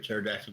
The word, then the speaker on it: pterodactyl: You know you can't hear a pterodactyl go to the bathroom. Can't hear the P. Yeah. The P is silent.